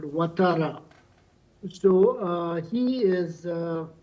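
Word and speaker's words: Ouattara: It's a it's a French uh uh way of writing basically a Muslim name called Watara.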